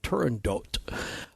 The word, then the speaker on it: Turandot: It's often pronounced differently, but apparently Puccini's granddaughter, I believe it was, said that that's how he pronounced it, Turandot, and that it's one